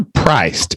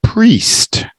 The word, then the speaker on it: priest: try again maybe rest it's not a priced it's a priest yeah priest yeah it's like the eye is silent priest priest but let's see